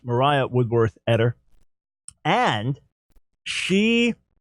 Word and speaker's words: Maria: up because there was a fiery preacher named Maria Woodworth editor some would say her name is pronounced Moriah Woodworth at her and she spoke of an